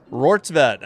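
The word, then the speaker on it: Rortvedt: Fouled off by, how do you say it? Rortvet? I gotta listen. Rortvet. All right, I got it right.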